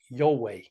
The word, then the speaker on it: Jove: So the J would have been a Y, O would have still been the O, the V would have been a W, and the E at the end of the word would have been pronounced A, right? So if you say Jove in the Latin, you get Yahweh, which I found, very, very similar to Yahweh.